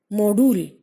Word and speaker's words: Modul: Let us say it out slowly. Module. So the second one is being stressed upon.